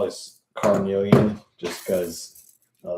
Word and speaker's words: carnelian: Carnelon. Here's how I spell it. C A R N E L I A N. In the old old um texts, you see it called like Cornelian.